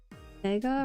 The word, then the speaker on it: Vega: a little bit uh what rhes with Vega guys Vega rhymes with Omega ah she all right